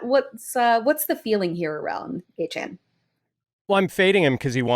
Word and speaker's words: Achane: And, like when people would mispronounce his name or so I thought in the off season, I'm like, no, it's Achane.